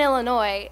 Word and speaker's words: Illinois: she was born in Illinois and um the one thing that I advise you not to do is to mispronounce that because um if you add the S at the end Illinois she might hurt you